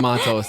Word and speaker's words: Matos: not Matos, right? Tomato. Oh, okay. Yeah, we're going to go with Matos, though. That's the correct pronunciation.